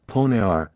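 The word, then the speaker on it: PONR: nicknamed that switched the poar pronounced ponar and meaning point of no return a familiar term also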